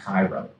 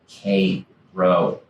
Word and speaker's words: Cairo: If you go down into the Hudson Valley, they have a town that is spelled the same as that city in Egypt. It's not Cairo. Cairo.